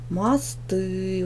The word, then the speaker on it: мост: Мост. Ударение падает на первый слог. Проверочное слово. Мосты.